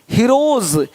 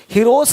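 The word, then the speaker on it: heroes: हीरोज, हीरोस नहीं, देख रहे हो, रुपीस नहीं रुपीज, ज का साउंड आ रहा है हल्का सा।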